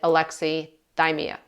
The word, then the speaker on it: alexithymia: our emotions, and some people will call this alexithymia, or depending on how you pronounce it, alexithymia, alexithymia. Some people pronounce it differently, but I pronounce it alexithymia.